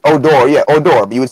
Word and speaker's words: Odor: me being you know being I don't speak spell it I mean it's Oh door yeah Oh Dorothy would say with an accent